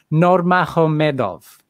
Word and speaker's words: Nurmagomedov: Khabib Nurmagomedov, the Americans say Khabib Nurmagomedov.